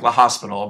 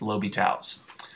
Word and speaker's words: L'Hospital: so what we're using here is what's called Lobby tals rule it looks like La Hospital but it's pronounced Lobby tals um okay so lital says to use lyal's